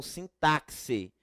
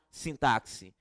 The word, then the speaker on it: sintaxe: não é estudo da sintaxe a pronúncia correta estudar sintarce não é x com som de ks como é realmente alguns vão dizer é x com som de s então a partir de